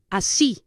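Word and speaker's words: así: that or that way which is a see a c which is spelled a i and it has an accent over the I I will explain to you a little lat why the accent a see a see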